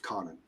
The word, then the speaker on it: Conan: I go I would happily draw a Tarzan Conan crossover because Darkhorse at the time had both and lever goes first thing he goes no it's it's pronounced Conan which you know I I'll never say it